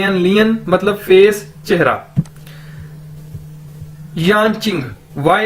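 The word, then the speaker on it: 眼睛: एन मतलब face चेहरा यान चिंग वाई ए एन यान जे आई एन G Ching Chinese के अंदर जे को हम चे के तौर पर प्रोनाउंस करते हैं यां चिंग मतलब आईज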